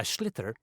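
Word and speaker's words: sliotar: you have to get this ball called a schlitter that's s-l-i-o-t-a-r so it's not spelt the way it's pronounced you hit it into the net for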